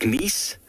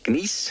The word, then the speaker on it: gneiss: And that metamorphic process would have transferred the granite into something known as gneiss. It's very nice, gneiss, however you want to pronounce it.